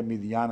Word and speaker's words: مدین: مدین شہر کی طرف، قرآن کریم اس کو مدین ہی لکھتا ہے، اس لیے میں بھی مدین ہی پڑھتا ہوں، مگر بائبل میں اس کا تلفظ مدین یا مدیان آتا ہے۔ جب وہ مدین شہر